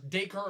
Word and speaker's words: Dacre: the new Red Ranger the upcoming power rangers dacre of Montgomery is actually how you pronounce that name of some birthday it sounds